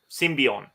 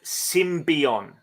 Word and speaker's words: Symbion: Action Figures were Warriors from the planet Symbian symbion arapa decks more 80s action figures Warriors from